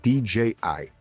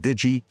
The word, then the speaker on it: DJI: It's a company called DJI. Some call it Digi, all these other ways they pronounce it.